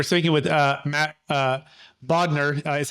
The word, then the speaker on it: Bodnar: transactions amazing we're speaking with uh Matt uh bod is how you pronounce it but how you spell it is